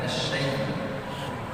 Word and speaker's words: الشيطان: عندما أنطق كلمة الشيطان لابد أن أفتح الفم هكذا. الشيطان.